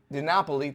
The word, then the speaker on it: DiNapoli: DiNapoli, thank you. I should know how to pronounce that.